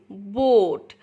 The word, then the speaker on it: boat: প্রথম ভাওয়েলটা কথা বলবে আর সেকেন্ড ভাওয়েলটা সাইলেন্ট থাকবে বা চুপ থাকবে। যেমন বোট, দেখুন বোট, BOAT, বোট।